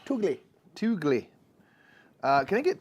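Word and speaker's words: Tulgey: I understand it's pronounced Tolji probably, but we always say Toogly.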